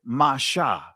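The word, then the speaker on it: משה: A primitive root, right, means to pull out, draw out, and it says Masha. So I'm not making Moses' name up, family. That is actually the proper pronunciation of Moses' name, because they didn't have vowel points.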